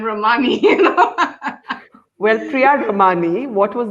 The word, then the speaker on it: Ramani: this of this space he hated the fact that her surname was pronounced uh mispronounced all the time what do was it pronounced what was it pronounced as ramani and she was constantly interject from the back i'm not ramani i'm romani well priyad romani what